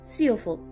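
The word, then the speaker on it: Siófok: এই জায়গার নামটির স্পেলিং হলো SIOFOK এবং উচ্চারণ হলো সিওফোক।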